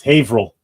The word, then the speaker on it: Haverhill: It's Haverhill.